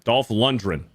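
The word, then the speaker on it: Lundgren: Normie and Jason within three months says, "You pronounce the G in Dolph London. I've heard it from the man himself." That's I am Dolph Lundren.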